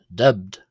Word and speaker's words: ⲧⲉⲃⲧ: Here the letter B uh is pronounced as a B because it's part of a consonant cluster in a final syllable. It is clustered with the letter dub at the end. Uh thus ending the word and being part of the final syllable.